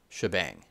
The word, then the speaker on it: shebang: which is called the shebang line this hash symbol i think it stands for shell here and then the exclamation point is often pronounced bang shebang now for some languages